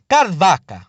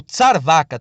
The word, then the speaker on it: Charvaka: A gente terá também o Charvaka, né, ou Tsarvaka também, como é pronunciado algumas vezes.